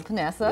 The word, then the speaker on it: Panessa: Alicia mispronouncing your name it is panessa yes it is um you pronounce it perfectly thank you um you're